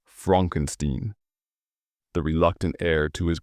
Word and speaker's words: Frankenstein: Frederick Frankenstein, pronounced Frankenstein, the reluctant heir to his grandfather's mad legacy.